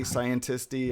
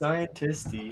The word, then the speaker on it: scientisti: It's like debutante, scientisti. I mean, that's how I say it. It's just scientisti.